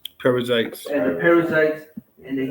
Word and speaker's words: Perizzites: the Amorites, and the Perizzites, how would you pronounce it? Perizzites.